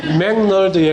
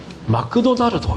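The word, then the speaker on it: McDonald's: 맥도날드의 본토 발음은 목사님 어떻게 합니까? 맥널드에 가깝지 않습니까? 그죠? 맥널드에서 맥도날드는 그나마 편차가 그렇게 크지 않습니다. 맥널드는 맥도날드라고 그냥 들립니다. 근데 일본 사람들한테 맥도날드라고 맥도날드 햄버거 발음해보라 그러면 어떻게 발음하냐면 마크도나르도 이렇게 발음합니다. 발음을 못하니까 맥이 마크가 되는 거예요. 그래서 마크도 나르도 이렇게 발음이 돼요.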